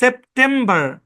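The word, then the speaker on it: September: British ইংলিশে এই শব্দটাকে বলা হয় সেপ্টেম্বর, সেপ্টেম্বর, বা বা বা, কোনো আর নাই, সেপ্টেম্বর।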